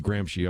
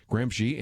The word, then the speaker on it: Gramsci: I guess he says Gramsci. I'm mispronouncing it from my old days. Gramsci, and then guess who is, at least until recently, the head of the International Gramsci Society?